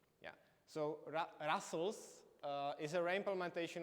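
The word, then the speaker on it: rustls: replacing open SSL so does anyone heard about rust TLS so it's uh actually it's pronounced Russel it's quite weird pronunciation yeah so Russel uh is a the reimplementation of op SSL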